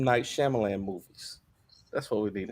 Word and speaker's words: Shyamalan: Night Shyamalan movies. That's what we need. It's only been like 5. You got to say his name right first. But it's not Shyamalan. It's Shyamalan. What is it?